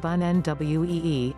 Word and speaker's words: bonne nuit: Think how much more sophisticated and worldly you'll sound if instead you say it in French, bonne nuit, pronounced bonne nwee, Italian, buonanotte, b-won-on-note-teh, or Chinese, wanan, wa-an.